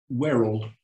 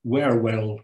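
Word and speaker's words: Wherwell: And that is another timber chimney, but this is in Werrell or Werewell, depending on your pronunciation and whether you're a local or not.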